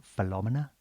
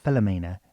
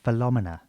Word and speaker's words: Philomena: like they do, and she said, "Actually, it's pronounced Philomena." Can you believe that? I said, "I'm sorry." She said, "It's not Philomena, it's Philomena."